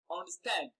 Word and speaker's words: understand: it's discovering the stress understand stan is the second part of the world and it is carrying the stress remember compound verbs are